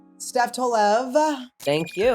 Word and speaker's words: Tolev: Steph Tolev. Thank you. Am I saying it correctly? You are. I was saying it wrong for a long time. Everyone still says it wrong, and now I don't even... Tolev, or so I'm saying